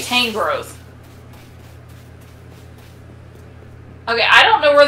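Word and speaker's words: Tangrowth: that way that's interesting it sounds better than tan growth i say tang growth okay i don't know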